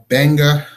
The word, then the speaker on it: Gbenga: so my website it's Benga anything and he can't stop my name I'll start with eg and his sons it sounds the pronunciation start with a B but you know writing